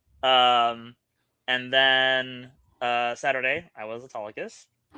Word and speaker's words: Autolycus: And then Saturday, I was Autolycus, not Autolycus.